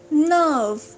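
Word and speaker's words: nerve: नर्व, यहाँ पे again are silent है, इट्स नॉट नर्व, इट्स नर्व। नर्व मतलब नस।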